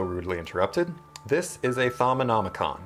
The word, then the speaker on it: Thaumonomicon: Okay, so anyway, before I was so rudely interrupted, this is a Thaumonomicon. It's actually very easy to pronounce. Thaumonomicon.